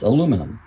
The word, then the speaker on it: aluminum: As the name implies, the al part is aluminum, or aluminium if you pronounce it that way.